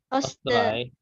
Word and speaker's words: Österreich: Ya, dari sini dari awal, Seit 1918 ist Österreich ya. eine Republik. Ini bacanya Österreich. Ada i-nya kebaca. Österreich.